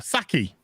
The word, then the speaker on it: Psaki: It's a Saki. No, I'm spelling it. I'm reading it how he spelled it. That's how it's spelled.